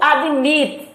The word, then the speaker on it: admit: Vamos ver o verbo to admit. Vocês vejam que a sílaba forte não é ad, é mit.